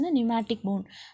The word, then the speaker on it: pneumatic: P is a silent here. You have to pronounce as a pneumatic bone.